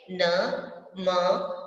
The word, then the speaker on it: नमः: ठीक है, न म विसर्ग, तो कैसे पढ़ेंगे इसको, नमः, लास्ट में ह का उच्चारण करेंगे विसर्ग की जगह पर।